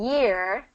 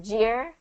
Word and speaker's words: year: Okay, we got so celebration and then year. It's been a big year. Make sure you get the y sound instead of jeer.